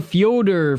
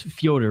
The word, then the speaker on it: Fyodor: Bader or Fyodor for the win.